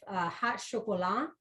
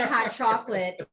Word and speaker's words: Hot Chocolat: chef, Michael Poole of Hot Chocolat, and that's how you pronounce that. It's not, you're not going to find any hot chocolate in this place. I've already tried, trust me. It's Hot Chocolat, and you'll understand why